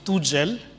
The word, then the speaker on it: Tugel: So my original nickname is, but my brother pronounced it Tugel. So I prefer to be called Tugel, no? Tugel. It's a result of baby talk.